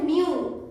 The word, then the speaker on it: mil: With the letter L, कोई भी word L से एंड होता है तो उसका एंड का साउंड हम ल को प्रोनाउंस नहीं करते हैं, ल का उच्चारण नहीं आता है, तो उसका उच्चारण थोड़ा सा अलग होता है। 1000 को हम कहते हैं